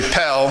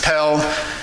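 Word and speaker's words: Perle: dot h t so that's actually pel that's how it's pronounced in french is pell haiti so pel ht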